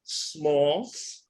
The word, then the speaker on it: Smaltz: them before um I have Audrey and Audrey smalls so I'm pronouncing it right right yes yes yes and